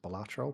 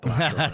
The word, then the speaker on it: Balatro: I did actually look it up because I was like, how actually do you pronounce this? And I think it's based off a Latin word for something. So I believe the correct pronunciation is Balatro, but Right. I'm northern, so Balatro.